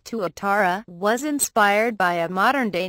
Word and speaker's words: Tuatara: Following several years of design and development of its revolutionary new supercar, SSC has named its new car Tuatara, pronounced T-W-U-Tara.